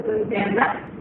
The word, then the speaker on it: Pontianak: Langsur is similar to Pontianak, only this is the spirit of a woman who suffered as a result of betrayal or heartbreak.